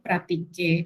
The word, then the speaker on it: pratiquer: de hablar del verbo pratiquer es que en español tiene una C después de la A. En francés esto no ocurre, entonces tengan cuidado tanto al momento de pronunciarlo. Pratiquer no lleva C, como al momento de escribirlo.